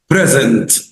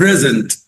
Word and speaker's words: present: present لو نطقتها كده زي أنا ما قلت present هتبقى noun اسم ومعناه هدية. أما لو نطقتها بص الجاية دي present، المرة الأولى قلت إيه present، لكن في المرة الثانية بقول present، نفس السبيلنج بس النطق present هنا دي verb يعني يقدم.